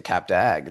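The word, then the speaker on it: Cap d'Agde: But also, you know, some of these places, like this summer, I went to Cap Dag. That is a place in the south of France, Cap Dag. It's spelled D uh Cap C A P D apostrophe a GD.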